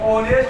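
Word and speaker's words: honest: लेकिन इसको हम ओनेस्ट बोलते हैं।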